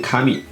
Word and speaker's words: カムイ: The Chinese character 神 does not read かみ, but adopts the ancient way of reading カムイ, an ancient pronunciation in the アイヌ language.